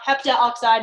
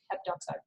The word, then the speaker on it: heptoxide: It's not heptaoxide, it's just heptoxide.